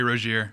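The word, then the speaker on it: Rozier: Johny Bilips, how do you pronounce this? Terry Rossier. Terry Roier. Roier.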